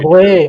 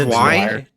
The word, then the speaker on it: Zwei: Oh, Sway. Oh, I thought you said Sway, not Zway. Okay, sorry. Yeah, I heard Sway too, not Zway. I like Sway. It's just like it's pronounced Zwei.